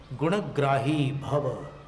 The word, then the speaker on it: गुणग्राही भव: गुणग्राही भव, गुणग्राही भव। ण को पूरा बोल रहे हैं, और ग्राही में संयुक्त अक्षर है तो स्वराघात भी कर रहे हैं।